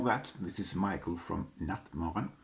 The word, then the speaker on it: Nattmaran: this is michael from nutmeg that's how it's pronounced in swedish and i'm here to